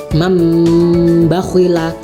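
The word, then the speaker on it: مَنْ بَخِلَ: Contohnya mambakhila, mambakhila, kan ini tulisannya man ya, ketemu ba. Jadi tuh bibir harus ditutup ya, seperti membaca mim ketika bertemu mim ya.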